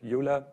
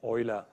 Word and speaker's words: Euler: because he was which he is pronounced not like it would pronounce Europe EULA he really is pronounced Euler what can we say